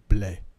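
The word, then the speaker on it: Blais: and it's not pronounced Blaze it's pronounced blle it's a silent s oh God so pretentious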